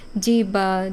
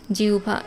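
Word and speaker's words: জিহ্বা: এইচ এভাবে আলহাদ আবার হ এর সাথে যখন ব ফলা থাকবে তখন কিন্তু এটার একটু অন্যরকম উচ্চারণ হয় আহ্বান আর জিউভা আমরা যদিও বলি যে আহ্বান বা আহ্বান বা জিবা জিভা মানে অনেকেই অনেক রকম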